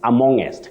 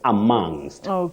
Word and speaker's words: amongst: having any guidance then we end up with amongest instead of amongst amongst amongest amongst okay